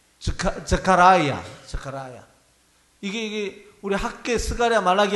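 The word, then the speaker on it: Zechariah: 여기 사실 이게 사가랴라고 번역이 됐지만은요, 영어로는요 스가랴하고 똑같습니다. 발음이 자카라야.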